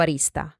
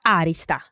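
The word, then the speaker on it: arista: I pronounce arìsta, because in the south it is pronounced like this, but in Tuscany no, it is pronounced àrista (with the accent on a-).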